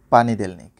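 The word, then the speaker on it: понедельник: এবার দেখবো সপ্তাহের দিনগুলোর নাম তার উচ্চারণ এবং তার বাংলা কি হবে। প্রথমেই রয়েছে পানিদেলনিক যার বাংলা সোমবার।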